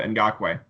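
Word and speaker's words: Ngakoue: you think is gonna go on with a in Gok way who I now learned how to pronounce his name out there listening to the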